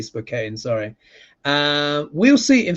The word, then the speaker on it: Spokane: It's pronounced Spokane.